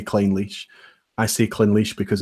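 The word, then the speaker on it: Clynelish: about just to clarify I know that I pronounced claim leash a bit fast and I see clearly some things and but you know if you see clean leash but I think most people would say clean leash I see cleanly sure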